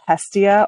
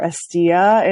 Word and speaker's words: Hestia: past eight years uh the land is called Hestia or estia in the Greek pronunciation and it is the